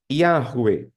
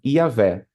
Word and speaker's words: Yahweh: Yuri, na sua opinião, qual seria a forma mais correta, né, de pronunciar o nome de Deus? Muito provavelmente é essa aí, ó. Yahweh, Yahweh, tá? Yahweh. Porém, essa outra forma, que é praticamente a mesma escrita, também é muito praticada. Iavé, Yahweh ou Iavé.